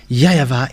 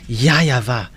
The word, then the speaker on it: YAHVAH: YAHVAH is his name. That Grandpa Moshe called YAHVAH is his name. Because this is so obvious. In Eastern part, the W for them, they pronounce it as V or B.